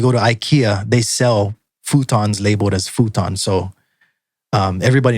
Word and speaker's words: futon: So the next word is futon, or as pronounced in Japan, futon.